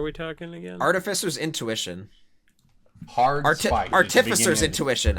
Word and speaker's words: Artificer's Intuition: talking again artificer's intuition artificer's intuition i learned recently that that's how you pronounce it it's artificial yeah which really